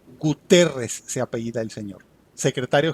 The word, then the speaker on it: Guterres: un tuit de antonio guterres así se pronuncia correctamente guterres se apellida el señor